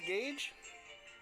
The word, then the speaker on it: Gauge: little bit scared that I would say your name wrong. It's Gauge. It's Gauge, Yeah.